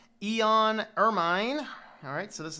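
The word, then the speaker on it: Eoan: somebody over on reddit how do you even pronounce this answer I can't install Debian no no no that's Eon it's just the British spelling different from us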